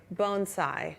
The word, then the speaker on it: bonsai: I know, and he taught us how to say bonsai.